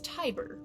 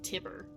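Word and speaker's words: Tiber: This symbol here is pronounced I. It's Tyber rather than tibber.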